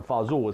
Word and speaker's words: fazool: you want to get that word from fazool it sounds like a fool or somebody's a fool well the reality is that the fazool is a corruption you know when I say corruption meaning it's a it morphed into a lesser formal pronunciation over the decade the